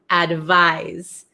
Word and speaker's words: advise: eight we have advice advise okay so this is like more of a z sound oh okay Erica is